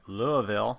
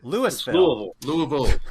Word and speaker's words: Louisville: You're gonna hate me, but Louisville. Did I say it right? Not quite, but close enough that we knew what you were going to say. That's all that counts. Louisville.